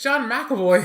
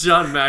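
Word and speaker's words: James McAvoy: It's John McAvoy.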